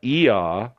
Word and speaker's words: Ea: I'm able to gather that this does god er which is spelled EA for interests sake is the god